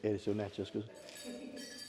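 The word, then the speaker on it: Edisto Natchez-Kusso: Yeah, Edisto Natchez Kusso.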